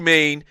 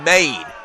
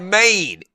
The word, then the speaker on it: Mane: And it is pronounced Maine. Not man, but Maine, like M-A-I-N.